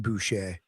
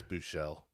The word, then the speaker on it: Buechele: Are we sure it's not pronounced Boucher? Yeah, I'm pretty sure it's Buechele. Okay.